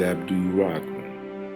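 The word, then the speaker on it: Abdul Rahman: d i qu e my last name is Abdul Rockman ABD r a h m a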